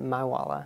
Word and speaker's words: MIWLA: I pronounce it my Walla we say my wheeler